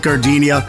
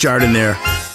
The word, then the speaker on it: Jardiniere: And guys, when you're at the counter, don't call it gardenia. It's pronounced Jardiniere.